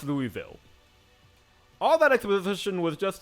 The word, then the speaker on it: Louisville: and it's like what it's like they're swallowing their own tongue I'm just so confused